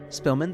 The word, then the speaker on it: Spillman: I would like to call the historical society the s is silent of all spilman the s is silent to order.